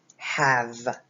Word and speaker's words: have: word half is have1 the word have that H sounds like the a is a short a a and the V is a V sound mm-hmm there is a silent e at the end so that he makes no sound so it's we have okay and have means that